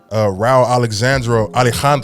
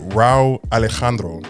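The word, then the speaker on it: Rauw Alejandro: Chris Brown, Empire, Jason Derulo, Tiana Taylor, Neo, Raul Alejandro. Dang, I just butchered that whole name. My bad, bro. How you say it? Raul Alejandro.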